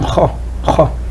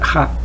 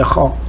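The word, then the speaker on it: خ: Il fait donc kha. Donc c'est une lettre quoi qui est chose il faut le faire kha. Il ne faut pas faire ha. C'est kha. C'est une lettre qu'il faut le prononcer d'une manière quoi.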